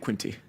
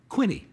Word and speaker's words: Quinte: called the Bay of Quinte. Okay. They don't really pronounce the T. So, this is the decision we have to make now. We are 2 hours west of the Bay of Quinte.